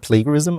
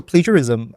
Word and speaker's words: plagiarism: interesting line and I was using the word plagarism earlier need to learn how to pronounce that word properly um jism right J okay jism anyway so plagiarism um itself is um the reason why I